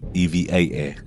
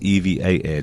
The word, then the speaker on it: EVA Air: Uh, I've always liked Evva. It is EVA air, just in case you're wondering. I've always mispronounced it.